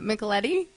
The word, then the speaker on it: Michetti: your last name wrong uh michetti no that's correct okay and Ashley's Act